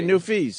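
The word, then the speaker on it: Newfies: it the new family is that how you say it new fees just say new fees yeah go after the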